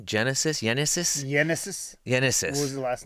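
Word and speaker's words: Génesis: Yenesis. What was the last name? Cabrera, I believe. Yenesis Cabrera.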